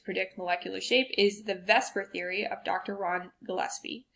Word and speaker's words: VSEPR: of information there so Vesper which is obviously not how you would pronounce this order of letters but that's how we